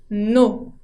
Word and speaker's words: nos: Ahora, si son varias cosas, au pluriel, on dit nos. No con ese final que no se pronuncia.